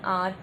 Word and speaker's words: hour: जैसे कि पहला हमारा वर्ड है HOUR, और देखिए इसे हम हॉर करके स्पेल नहीं करेंगे। हॉर का आर का मतलब होता है 1 घंटा 2 घंटा, जैसे कि 1 आवर 2 आवर, हम इसे हॉर करके प्रोनाउंस नहीं करेंगे। तो इसमें हेड साइलेंट है।